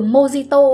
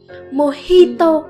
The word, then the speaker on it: mojito: Linh đọc sai rồi, cái từ mojito ấy nó phải đọc là mojito, cái chữ G đấy phải đọc là âm hờ đó.